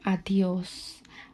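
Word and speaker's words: adiós: You see how I'm separating the vocales and then making the sounds? A e o a e o and then just adding a d and an s right there.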